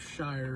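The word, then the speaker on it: Scheyer: Duke people were with, I think it's Coach Shire is how you say his last name.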